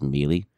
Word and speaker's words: Mealy: me and liz mealy i have probably been pronouncing her name wrong in previous episodes it is mealy um we'll have we're